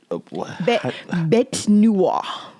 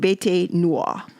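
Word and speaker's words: bête noire: Um, and you said bet noir. In French, it's pronounced Bete Noir, but in American it's Bet Noir.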